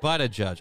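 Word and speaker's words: Buttigieg: but a judge and by the way Lady it's pronounced but a judge I don't mean a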